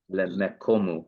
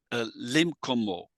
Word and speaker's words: limkomo: shav lemecho lemekomu. No, limkomo. Limkomu. Yeah, limkomo.